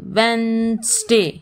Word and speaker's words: Wednesday: n e s vents w e d n e s d a y wednesday here d is silent w e d n